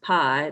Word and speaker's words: pi: right here and it's pronounced pie like you eat a piece of pie and it's shown by